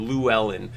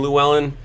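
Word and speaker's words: Llywelyn: Lou Allen uh and it's the Welsh it's it's an LL e w Luellen uh and I think that in the Welsh language I'm under the impression that it's pronounced with some like back of the throat like a sound that I'm just never going to be able to pronounce like a like a clellan kind of sound um for me I'm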